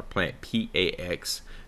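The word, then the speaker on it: PlantPAx: could have it look like plant packs or plant PA ax that is the proper pronunciation for that um in this indication so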